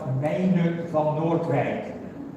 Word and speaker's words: Meine van Noordwijk: Let me just, at home I call myself Meine van Noordwijk, but I don't think anyone can repeat that.